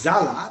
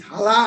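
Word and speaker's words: Xala: You can pronounce it as Zala, but it is Hala or Thala, by Osman Sembeh, where we see that the colonial power is replaced, but culturally nothing is replaced.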